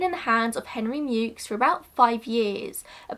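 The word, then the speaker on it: Meux: name is spelt m-e-u-x which you would think would be pronounced as mu as is a french spelling but my research tells me that this specific family pronounced it mukes so what am i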